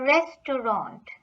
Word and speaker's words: Restaurant: So the T at the end is silent.